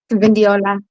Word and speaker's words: Vindiola: Vindiola. That's how you say it, by the way. People, most people don't know how to pronounce it, but you say it like vin d and then ola I'm here.